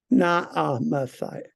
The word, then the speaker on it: Naamathite: Naamathite. Just when you see two A's, two syllables.